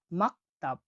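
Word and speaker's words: maktab: পরবর্তী অক্ষরটি হলো এম, এম এর উচ্চারণ হয়ে থাকে ম এর মতো। আমরা উদাহরণ দেখছি, দেখুন, স্কুল, স্কুলকে বলা হয় মাকতাব, মাকতাব মানে হলো স্কুল, মাকতাব মানে হলো স্কুল, স্কুলকে বলা হয় মাকতাব।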